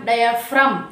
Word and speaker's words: diaphragm: DIAPHRAGM డయాఫ్రమ్, దానిలో కూడా మనం జీ పలకట్లే కదా, ఎందుకంటే జీ అనేది మన రూల్ ప్రకారం ఎంకి ముందు వచ్చింది కాబట్టి వీ షుడ్ నాట్ ప్రొనౌన్స్.